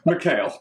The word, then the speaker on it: Mikhail: Mikhail. Mikhail, that's what I thought. But you know. We can get into why it's pronounced that way later.